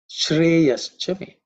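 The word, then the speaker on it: श्रेयश्च मे: Shreyas Chame. With Shreya Ha Chame, the Visarga Ha becomes Ish. So Shreya Ha Chame becomes Shreyas Chame.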